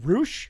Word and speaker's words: Roush: castle versus Rush is it Roush it's it's Roush who knew looks like rush to me but anyway I